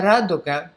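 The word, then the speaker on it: радуга: so rainbow in russian is a raduka so three syllables and i'm gonna put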